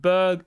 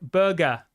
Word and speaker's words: Berge: that's fine Javis says his name is pronounced Berg Burger is it like burger like a burger I've